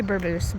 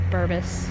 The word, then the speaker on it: Bourbeuse: Well, I say it wrong. I'm sure I say Burboose, but everybody else says Bourbus.